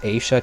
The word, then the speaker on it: Aisha: Like the Aishas, they have these little... By the way, that's actually pronounced Aisha, technically, but Aisha sounds better, in my opinion.